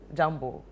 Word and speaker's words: jambo: You can say, the tourist one is Jambo.